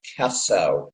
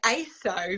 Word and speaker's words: ACESO: correct Greek pronunciation and it's aeso according to him oh see I've been I've was calling it ASO because it's Ace but you know what I guess that's just across across the Atlantic different ways but like I said